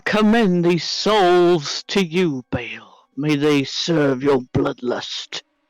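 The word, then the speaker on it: Bhaal: it is pronounced bale b-h-w-l yep yeah although there's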